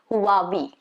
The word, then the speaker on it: Huawei: It's supposed to be Huawei. Huawei. So there is going to be a slight sound of H. Okay, Huawei.